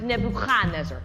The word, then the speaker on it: Nebuchadnezzar: earlier you said Nebuchadnezzar in Hebrew we pronounced Nebuchadnezzar more in the back of the throat pretty upset even after